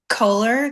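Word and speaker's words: Kohler: Can you spell that? Colar K O H L E R like the textures.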